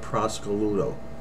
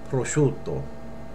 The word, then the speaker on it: prosciutto: though I'd actually heard so I heard a woman ask for Italian ham in an Italian market and she said give me a half a pound of Prosecco Ludo you will never say that you'll say prosciutto okay we'll say it